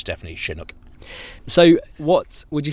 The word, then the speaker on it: Chinook: once and for all is it pronounced Chinook or Chinook ah Chris now you're asking the Shrewsbury or Shrewsbury question aren't you I say Chinook but it's actually named after a win that comes down from the Rockies in America